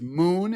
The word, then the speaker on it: Mxxn: Moon, it's spelled MXXN and Reframe.